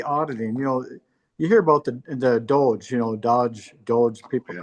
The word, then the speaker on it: Doge: If there can't be auditing, you hear about the Doge, Doge, people Yeah, pronounce it Dodge.